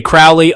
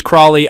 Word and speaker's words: Crowley: Some say Crowley, others Crowley. I insist it is pronounced Crowley to rhyme with holy.